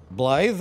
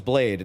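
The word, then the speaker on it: Blaidd: weird in the pronunciation it's not normal um english it's it's it's welsh so you would uh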